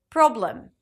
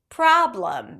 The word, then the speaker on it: problem: Non-native speakers usually associate the vowel letter with a pure vowel sound. Therefore, pronouncing this o as o. Office, job problem. Whereas, it's actually a back open a sound.